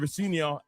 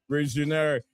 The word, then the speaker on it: Rosenior: I was told the right pronunciation is not Rosenior. It's Liam Rosenior.